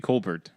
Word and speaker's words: Colbert: but like you would the weirdest change of a name is a Colbert he's actually Kolbert well Stephen Colbert it makes sense technically